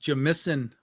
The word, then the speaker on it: Jamison: It's pronounced Jamison. Yeah, that's how you say it in Canadian.